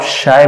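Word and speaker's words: χ: बच्चों इसको एक स्पेशल सिंबल से रिप्रेजेंट करते हैं जिसको आप शाय बोलते हैं। क्या बोलते हैं, CHI, शाय। क्या बोलते हैं, CHI। ये चाय नहीं है आपकी, ये इट इज क्या प्रोनाउंसिएट एज शाय।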